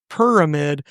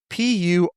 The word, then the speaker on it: Purrramid: Yeah, if you want to look this game up, it's called Purrramid, Purrramid. Like a purr from the cat.